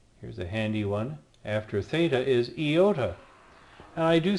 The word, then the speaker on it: theta: This one is theta. Makes the TH sound like in thing, not like in they. Many scholars will point out actually it doesn't make the TH sound as in thing, but it will make the sound two separate sounds together.